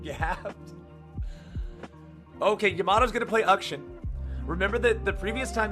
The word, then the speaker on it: Akshan: And so in India it's pronounced Ukshin, is what they told me. So, yeah. It always surprises people when I call him that, because in English pronunciations, it would not read like that at all.